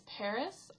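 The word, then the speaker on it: PVRIS: breakthrough band which is actually really funny is Paris I've been pronouncing it pissed this whole time and then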